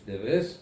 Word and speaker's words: دویست: و از این قبیل دویست تلفظش دوست بوده و نمی‌تونست بازیست کافیه